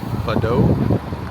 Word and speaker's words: Fado: Hey, we're in Chicago continuing our Route 66 journey and we're at I but it's pronounced Fado uh Irish pub which has the the name has a great background.